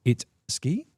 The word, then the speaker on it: Idzki: But we have been told phonetically that his name or how it should be pronounced I should say not phonetically how it should be pronounced is its ski.